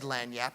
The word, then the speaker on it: lagniappe: lanap now I didn't even know how to pronounce the word and he said lanap and I remember thinking I've heard that word